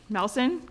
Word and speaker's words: Melson: Melson, can you please introduce yourself to the board, stating your name, spelling your name, and your address, please?